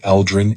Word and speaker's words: Elterin: John was reminded of the proper pronunciation of word Elterin in its ancient form, replacing the lazy-sounding D of John's Western influence with a crisp T.